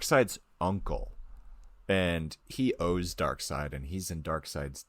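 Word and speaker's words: Darkseid: gonna say it right I know it's spelled dark like dark seed people say dark seed but it's dark side yeah I Googled it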